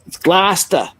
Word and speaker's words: Gloucester: And it's Gloucester.